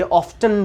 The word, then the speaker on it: often: भी सही है, ये ऑफ्टन भी सही है। अगर कोई लोग गलती से ऑफ्टन बोल दें तो आप हंसेंगे नहीं, क्योंकि इसकी राइट प्रोनाउंसिएशन ऑफ्टन भी होती है। तो ये ऑफन भी सही है, ऑफ्टन भी सही है।